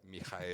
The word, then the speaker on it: Michael: Mijael. Qué bueno, porque yo nunca he sabido cómo se dice. Yo le digo Michael porque No, tengo un acercamiento con él. Michael en alemán es Mijael, pero si Mijael.